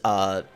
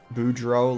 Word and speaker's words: Boudreaux: Daniel with another 5 says it's pronounced Boudreaux. Boudreaux, like that. Daniel Boo. Boudreaux. Draw. You got like a, what's that called? Like an accent over the O.